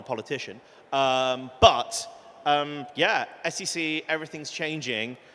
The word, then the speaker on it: SEC: heart of crypto investors s e c come on that's how you have to say it right um and so